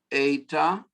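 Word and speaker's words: ἦτα: So epsilon, zeta, eta. It's our long E, eta.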